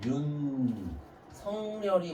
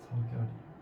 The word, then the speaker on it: 윤석열: 윤성열이 맞을까? 윤석열이 맞을까? 석결이 그렇죠. 요게 맞는 겁니다.